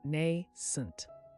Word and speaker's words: nascent: You now know the word nascent, pronounced nay-sent.